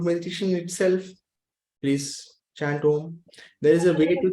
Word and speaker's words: Om: Chanting Om, chant all the 3 syllables, A, U, A and U becomes O. So you chant Om, elongate the Om, half of O, and then remain quiet for a few seconds.